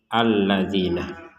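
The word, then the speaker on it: الَّذِينَ: sini yang perlu dijelaskan kita barusan membacanya alladzina Padahal di atasnya huruf alif atau huruf hamzah ini tidak ada harakat fathah Kenapa kita baca alladina karena ini namanya hamzatul wasl hamzatul wasl itu jika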